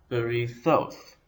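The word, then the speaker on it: בריתות: It has three syllables, b, ri, and thoth. The stress is on the last syllable, as in most Hebrew words, berithoth.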